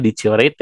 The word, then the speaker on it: deteriorate: Kalau misalnya dioritate ini tuh lumayan agak tricky ya bacanya deteriorate tapi dibacanya dioritate ya.